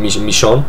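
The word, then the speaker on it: Michonne: character there called M mishon I think it's pronounced French I think uh who's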